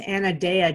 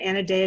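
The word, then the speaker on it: Anodea: to the self but I think her name is pronounced Anna daya Judith and a day that Sun right Anna Deo Judith I haven't heard of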